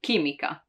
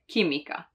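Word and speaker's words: chimica: to have and when it follows a k or a g sound it makes it hard even if it's followed by a vowel like ke with the k there are not so many actually like kimika kimika chemistry right kimika while if there was no h there it would be chimika which is not a word but just in order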